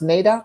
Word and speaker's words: NAIDOC: we are talking to anissa about is it pronounced nadoc week it is okay and i've got my